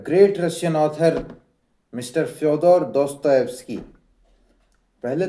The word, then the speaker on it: Dostoevsky: दोस्त की में बात है तो इसे प्रोनाउंस कैसे करें? तो आप बोलो दोस्त टॉय टॉय टॉय वाला टॉय आप बोल सकते हैं खिलौना वाला टॉय। दोस्त एस्की दोस्त एस्की ऐसे आप प्रोनाउंस कर सकते हैं।